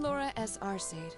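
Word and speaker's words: Laura S. Arseid: I'm Laura S. Arcade, from the town of Legrand.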